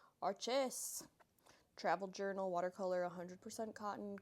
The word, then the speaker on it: Arches: Do you pronounce it Arches or Archies? Arches.